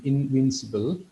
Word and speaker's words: invincible: இப்போ இதில் வந்துட்டு invincible அப்படிங்கிறது invincible நாங்கள் அதை சிபிள் என்று தான் ப்ரொனவுன்ஸ் பண்ணுவோம். invincible.